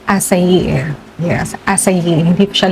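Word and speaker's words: açaí: aking nakaraang video is nabanggit ko kasi do akay pero ang correct pronunciation po niya is asay.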